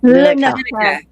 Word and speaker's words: Lineker: So the first syllable, Lynn, like the name Lynn. Second, Lynn, and then ka, Lynn, Lynn, now I'm going to mess it up again. Lineker.